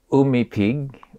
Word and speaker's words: Umipig: it for me my surname is pronounced Umi Pig Umi Pig actually it's a Filipino